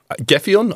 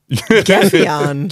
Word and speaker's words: Gefion: So it's called Gefion. I hope I'm pronouncing that correctly. And it's, you're not saying that right. Gefion. Gefion. Gefion. Move your tongue.